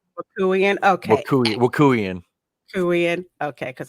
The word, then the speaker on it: Wokuian: It's Wokuian. Wokuian. Okay. Wokuian. Wokuian. Okay, because I like to pronounce people's names right.